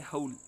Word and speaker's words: whole: इसी तरह से होल, ये HOLE होल, और WHOLE होल, इसका यही है होल।